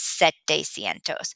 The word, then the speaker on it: setecientos: Another one that is a little tricky, but we're doing okay with is 700, which is setecientos.